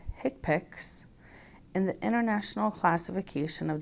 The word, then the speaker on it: HCPCS: They are the Current Procedural Terminology, or CPT, the Healthcare Common Procedure Coding System, or HCPCS, pronounced HCPACs, and the International Classification of Diseases 9th Revision Clinical Modification, ICD-9-CM.